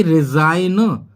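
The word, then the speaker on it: resign: जैसे कि रिजाइन, रिजाइन यानी कि त्याग पत्र देना, एन से पहले जी आ रही है, नहीं बोली जा रही, साइलेंट है।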